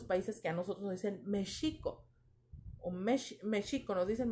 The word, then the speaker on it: México: este indígena y entonces en su sonido suena como jota pero se escribe con equis porque es palabra de